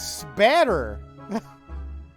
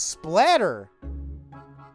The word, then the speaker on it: spatter: Oh, I was saying it wrong. It's spatter. I thought it was splatter.